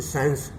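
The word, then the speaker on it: science: Saint माने इत्र, SCENT, Saint, तो इसमें सी साइलेंट वर्ड है, सी वाले अक्षर है, सेंट माने। और है जैसे साइंस, साइंस में जैसे साइंस माने विज्ञान, तो एस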